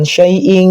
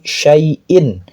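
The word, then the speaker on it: شيء: Dibaca izhar jelas bukan syai. Bukan salah tapi syaiin.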